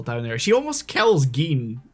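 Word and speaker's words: Gin: there she almost kills Gan like twice yeah respect is it g cuz I keep I keep wanting to say Jen I I think it's G the way they pronounce it okay the way G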